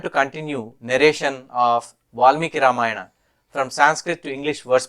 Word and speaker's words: Ramayana: a Vel in English if I say the word in telu I would have said ramayanam or ramayanam since I am using Sanskrit pronunciation I can say ramayana or ramayanam now you might ask